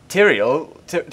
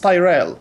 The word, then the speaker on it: Tyrael: I thought it was pronounced Tyrell. No, Tyrael. No, it's Tyrael.